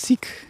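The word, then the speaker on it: Sikh: So is uh is it pronounced sik? Yes, essentially. Yeah. S I kh is how we render it in English. And it's a it's a short e.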